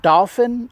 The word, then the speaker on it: Dauphin: It's called Dolphin Lake, and it's not like the sea creature. Spelled D O L P H I N.